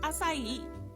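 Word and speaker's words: açaí: Correcting someone's pronunciation of acai. It's pronounced acai. Please stop that.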